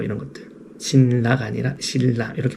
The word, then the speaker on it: 신라: 없이 만들어지는 거 같고 우리나도 마찬가지고 자음 동화라든지 신라 뭐 이런 것들 신라가 아니라 신라 이렇게 발음하는 것처럼 뭐 자연스럽게 읽다 보면 바뀌는 것들이